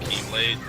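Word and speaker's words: χ-blade: Um, looks like an X, but apparently it's not an X.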